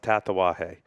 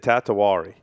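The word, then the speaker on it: Tatuaje: For the life of him, he could not pronounce Tatawahe. He said Tatawari. He would put an R.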